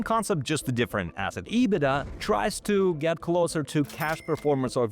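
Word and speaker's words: EBITDA: Pronounced as IBIDA after revenue and gross profit, IBIDA is one of the most widely used metrics in financial analysis.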